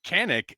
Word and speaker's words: Kanik: strange my whole life everyone always called me canic and like everyone knew how to say the name properly it was and then